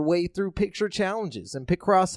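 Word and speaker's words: Picross: picked I don't know I want to say pick cross or pipe it's pick Ross I see cross that sounds right pick Ross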